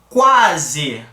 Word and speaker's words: quase: o u com a esse U aqui tá exercendo a função de semivogal observa que a pronúncia dele foi muito discreta já o a foi uma pronúncia mais com mais entonação com mais força ó quase quase Então